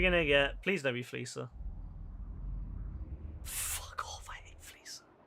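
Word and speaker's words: Fleeca: It's not Fleeker. It's never been Fleeker. Please, never ever say that. It sounds dumb. It's Fleecer. Like, you know, I'm gonna fleece that person.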